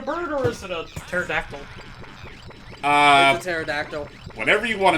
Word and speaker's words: pterodactyl: look up these names the p is silent if the b is